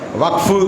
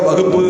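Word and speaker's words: waqf: முறையா உச்சரிக்கணும் அரசியல் களத்தில் இருக்கிறவங்க வக் அப்படிங்கறத வகுப்பு அப்படின்னு உச்சரிக்க கூடாது வகுப்பு சட்டம் வகுப்பு திருத்த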